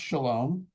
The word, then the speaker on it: Chalom: It's actually how we got the spelling of my name with a ch. Um, it's pronounced shalom, but that's the French spelling because my father's family